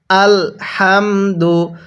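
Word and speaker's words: الحمد: পেশ দু আল হামদু অনেকেই আমরা এই জায়গার মধ্যে একটি ভুল করি এখানে আল হামদু পড়ি এই হা টা উচ্চারণের সময় মুখ দিয়ে হালকা আওয়াজ করার কারণে এই হা টা সহি শুদ্ধ উচ্চারণ হয় না এই হা টা উচ্চারণের সময় মুখ দিয়ে হালকা বাতাস বের করতে হবে যেমন আলহামদু হ্যাঁ কিভাবে শিখবো আল হামদু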